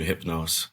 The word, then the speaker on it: Hypnose: My pronunciation is pretty simple. I just hypnose.